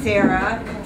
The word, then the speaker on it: Sara: Sarah Tyndall Gazelle.